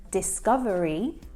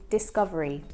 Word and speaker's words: discovery: In fact, when we say the word discovery, we don't always pronounce all of the syllables. So he pronounces it as discovery, but we often will shorten it to discovery.